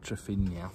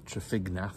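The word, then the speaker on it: Trefignath: one that we did I think I called it trafina but that was probably uh uh wrong uh uh trafignaf I think was the correct uh pronunciation so about an hour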